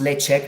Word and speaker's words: Ledaig: It's pronounced Ledaig because it's a Gaelic word.